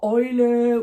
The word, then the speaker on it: Eule: Une autre diphtongue, c'est donc EU, A, umlaut U et EU qui se prononce oi. Oi, donc ça, c'est pas aïe, c'est oi. Et on l'a par exemple dans Eule ou dans Freud, dans certains mots comme ça. Quand vous voyez ça, EU ou EU, qui se prononce d'ailleurs aussi EU, en allemand, c'est oi.